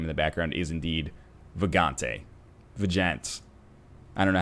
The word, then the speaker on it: Vagante: the background is indeed Vagante. I don't know how to pronounce it. Yeah, let's just call it Vagante from now on. Yeah, it's Vagante, so like Vag-ante, like what you would